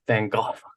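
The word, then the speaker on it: Van Gogh: that they have is talking about Fang go which they always pronounce Fang go they say like you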